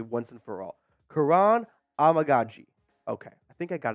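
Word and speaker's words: Kiran Amegadjie: say his name correctly once and for all Karan amagi okay I think I got it down now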